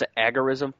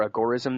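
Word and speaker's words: agorism: gore-ism or some people boys or some people pronounce an agar ism I prefer a gore-ism though the work in black and gray markets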